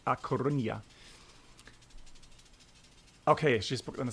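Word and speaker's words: A Coruña: we're flying from ligebon to coronia uh i think is that correctly pronounced and because brennell told me off he said no you you say acornia okay she's gonna say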